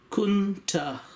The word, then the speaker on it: Countach: So what I call Countach is pronounced Kunta.